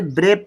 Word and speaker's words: brave: कभी भी लास्ट में ई आए तो हम उसके लिए साइलेंट रखते हैं। ई जो है लास्ट में साइलेंट रहती है, तो बच्चा हम इसे ब्रेव पढ़ेंगे।